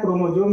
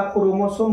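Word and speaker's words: chromosome: क्रोमोसोम जो होता है क्रोमोजोम भी बहुत आदमी पड़ता है लेकिन इसका वास्तविक उच्चारण जो प्रोनाउन से होता है आपका क्रोमोसोम होता है ठीक है यह जो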